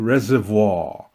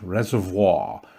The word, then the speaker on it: reservoir: And this body of water is called the Oahe Reservoir. That's how you say it in French, reservoir. But in South Dakota, they say reservoir.